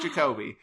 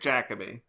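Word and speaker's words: Jacobi: I heard it in the Doctor Who confidential and was like, I've been mispronouncing it as Derek Jacobe. It's Derek Jacabe.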